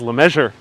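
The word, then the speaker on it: LeMessurier: his last name is la measure a lot of people say i'm mispronouncing it because they think it's a french name the guy is american you know you don't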